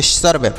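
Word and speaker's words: serve: पढ़ेंगे तो इसे पढ़ेंगे सर्व एस ई आर वी ई सर्व पढ़ेंगे सर्व मतलब होता है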